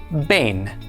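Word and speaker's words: בֵּן: This word is spelled beit, nun, with a tzera under the beit. The beit has a dagesh, so it is pronounced ba. Tzera is a, and nun is na. Altogether, this is pronounced bain.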